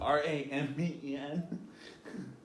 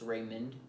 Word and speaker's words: Raymond: Oh, Ramen. That says ramen though. Like, so like sometimes when somebody asks for my name, I really pronounce like the D at the end of my name. It's Raymond.